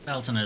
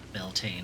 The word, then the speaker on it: Beltane: Beltana is the Irish way to pronounce it. Beltane, I guess, is the Scottish way to pronounce it.